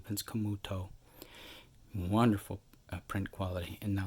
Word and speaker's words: Camuto: its offense Camuto Camuto let me pronounce the T properly Vince Camuto wonderful print quality and